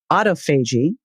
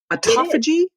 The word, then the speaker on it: autophagy: And I must tell you, until I heard you and Jeff Bland pronouncing it, I thought it was autophagy, but I guess it's autophagy. No, it's both. It's like tomato.